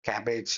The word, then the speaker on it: cabbage: It sounds like cabbage.